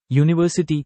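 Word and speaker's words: university: ইউজ আসার বি ব্যাখ্যা ইউনিভার্সিটি শব্দের প্রথম অক্ষর ইউ হলেও এর উচ্চারণ ওয়াই দিয়ে শুরু হয় যা একটি ব্যঞ্জন বর্ণের ধ্বনি তাই এর আগে এ বসে 66 চুজ অল্টারনেটিভ কারেক্টলি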